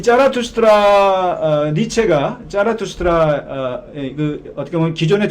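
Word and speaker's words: Zarathustra: 근데 이 짜라투스트라가 바로 조로아스터의 독일어 발음이 이 짜라투스트라입니다. 이 짜라투스트라 니체가 짜라투스트라 어떻게 보면 기존의 철학을 이게 뒤집는데 이 짜라투스트라를 이용해서 이제 뒤집습니다.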